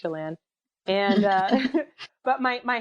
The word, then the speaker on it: Chelan: Chalan c h l an it looks like chellin but it's pronounced Chalan and uh but my my handles on everything